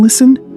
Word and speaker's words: listen: Remember the T in listen is silent.